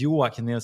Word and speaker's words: Joakim: My name is Yua. So that's how we pronounce it.